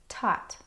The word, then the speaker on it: taught: There are some other words that have the same spelling pattern and also rhyme with caught. Taught.